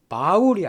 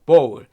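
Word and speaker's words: bowl: 보 꼭 기억해주시기 바랍니다 특히 발음을 조심하셔야 돼요 바울이 아니에 바울 읽는 분이 많이 계신데 발음이 모입니다 보울 이것은 대접 그릇 그뜻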